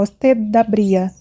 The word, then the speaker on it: usted abría: Reparou como eu pronunciei ali no usted? Como usted termina em D e o verbo começa em A, já quase saiu, ó, usted abría. Já, usted abría. Você une, ok?